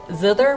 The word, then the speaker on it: zither: zither um and now how did you pronounce that again zither with a t8 yeah z with a th german would pronounce it with two t i don't know if